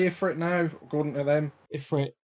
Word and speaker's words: Ifrit: Ifrit.